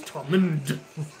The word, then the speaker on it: Tommen: But he doesn't pronounce the D, it's silent. The D is silent. Don't forget that. It's Tommen, but without the D.